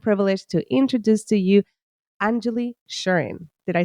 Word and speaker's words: Anjuli Sherin: the honor and privilege to introduce to you Angelie shurin did I say it correctly you did you